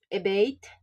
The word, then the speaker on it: abate: Abate, the stress is on the second syllable because it is a verb.